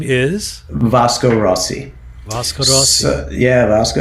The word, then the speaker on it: Vasco Rossi: Vasco Rossi. Vasco. And that's the correct way to say it, Vasco Rossi.